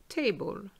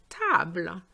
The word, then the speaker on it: table: the pronunciation is different look at this object we say in english table that word comes from the french but guess what they do not say table they say table table because the a which